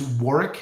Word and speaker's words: Warrick: So, the guy you should check him out, his name's his name is Warrick. So, it's spelled war w a r.